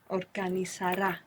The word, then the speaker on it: organizará: So the useful thing about the accent being on this ending is that we don't have to worry about where the accent goes when we're pronouncing the whole verb.